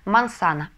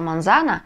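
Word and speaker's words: manzana: слог кризис следующее слово яблоко мансана мансана ударение на предпоследний слог потому что а последняя буква в этом слове это гласная мансана Кто прочитал монзана срочно смотрите Наш первый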